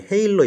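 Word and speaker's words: halo: 어디 있냐면 여기 인상의 착오 얘기할 때 여기 헤일로 이펙트 얘기한 거 있죠. 헤일로 이펙트. 이거 하로 이펙트라고 얘기하는 사람이 있는데 정확한 발음이 헤일로입니다.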